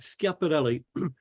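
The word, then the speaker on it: Schiaparelli: who are almost correct scapelli notice how I'm pronouncing it the Italian way I learn that when I move to Italy scap the is a hard SC in Italian it's not German scapelli did I say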